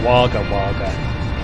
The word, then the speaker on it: Wagga Wagga: an accent thing then i would pronounce single g as wagga wagga to jesus wagga wagga i don't know how else to say it the g sound like ga why why